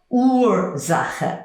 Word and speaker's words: Ursache: Keine Ursache. All one word. I'm just overpronouncing it so that you get it. Keine Ursache. Don't mention it. Ursache. It's as if there was a W there, but there isn't.